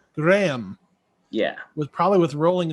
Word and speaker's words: Graeme: us and i'm sorry i assume we say it graham or how do you say your first name it's it's graham graham yeah was probably with